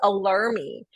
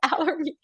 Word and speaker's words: Allermy: And it's so funny because my kids always say, "Oh, it's alarmy," and I'm like, "No, no, no, it's Allermy."